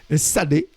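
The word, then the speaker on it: Tsadé: Hein, il faut prononcer le S après le T. Sadé, Sédek, qui veut dire le juste.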